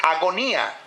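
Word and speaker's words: ἀγωνία: El término agonía del griego es agonía, igual se pronuncia, que indica una extrema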